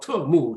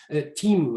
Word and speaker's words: Temu: It's not, I guess it's not Temu Chinese, but Temu, I don't know, T-E-M-U.